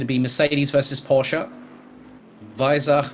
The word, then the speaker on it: Weissach: So it's going to be Mercedes versus Porsche, Weissach versus Affalterbach, and that is the correct German pronunciation, hence the German introduction earlier on this afternoon.